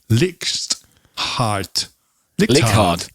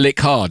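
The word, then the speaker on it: Leichhardt: the headquarters are in it sounds german but it's in australia licks heart card there it's in lick hard is it well i'm gonna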